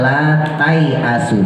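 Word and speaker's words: لا تايئسوا: Nah dibacanya yang sebelah kanan tuh ya, dibacanya la tai asu, jadi alifnya nggak dianggap.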